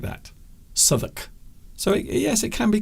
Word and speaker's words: Southwark: And quite often people will say Southwark, because that is how it's spelt. But it's not pronounced like that. Southwark.